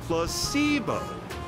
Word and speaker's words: placebo: to our vocabulary today repeat after me placeo H the stress is on the middle Sy very good